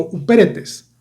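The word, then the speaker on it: ὑπηρέτης: dar esta idea es una palabra griega que se pronuncia más o menos así, como upéretes.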